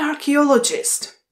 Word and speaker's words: archaeologist: An archaeologist. An archaeologist. Opět ch se tady vyslovuje jako k.